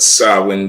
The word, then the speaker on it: Samhain: you to look up to all right but sawin day it's you know how to spell it Sam it's spelled Sam ha but it's